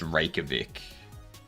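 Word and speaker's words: Reykjavík: Just rakavic. But I'm not sure it's in Iceland. I know it's in Iceland. Um, so like the the J is a soft like the the J is silent basically.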